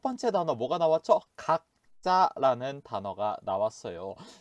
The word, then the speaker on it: 각자: 여러분들 각자 뜻 확인해 주세요. 자, 첫 번째 단어 읽어볼게요. 각자, 각자. 자, 이 단어도 마찬가지로 읽으실 때에는 각자로 읽어 주셔야 돼요. 쓸 때에는 각자, 읽을 때에는 각자라고 읽어 주세요. 자, 두 번째 단어 보도록 할게요.